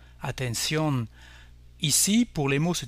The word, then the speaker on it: atención: L'accent écrit prime sur la règle du N, donc on accentuera la dernière syllabe et on dira atención, atención.